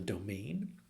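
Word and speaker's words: demesne: be areas called The Domain um and it's spelled D M NE um so if you see that word pronounced domain that was the part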